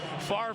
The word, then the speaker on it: Favre: to say every time I know it's pronounced far but every time I see the Jersey I think there's a misspelling of man Tipton did